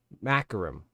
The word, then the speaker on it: Macrium: do all this is called maum yeah that's how you say it maum is a hard drive